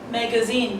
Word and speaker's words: magazine: you pronounce the word example magazine the three syllable me and Z okay and according to the dictionary the stress falls on the third syllable which is labeled by this apostrophe third syllable which is